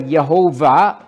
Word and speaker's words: Yehovah: That's the word Yehovah. That's more likely to be the correct pronunciation, but it doesn't matter whether you say Yahweh or the Lord or Yehovah, and against his Messiah.